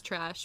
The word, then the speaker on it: Tchrashe: the Greyhound dog, and then my name is Trash, but it's spelled TCHRASHE. Trash.